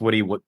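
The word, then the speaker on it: Wood7: It's pronounced Woody. Typed with 7.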